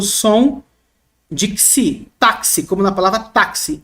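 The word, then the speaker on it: ξι: Esse não é XI, é XI. Esse X carrega dois fonemas. O CS ou KS, tá bom?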